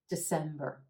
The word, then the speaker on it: December: and finally December December emphasis on that second available and the as in red December the first syllable is a schwa super quick instead of December the December December and again that final syllable is a very quick and quiet or sound December the final month